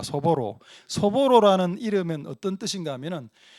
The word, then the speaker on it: 소보로: 빵 이름을 소보루 빵으로 소보루 이건 이제 한국식 발음이고 일본식 발음은 소보로입니다. 소보로.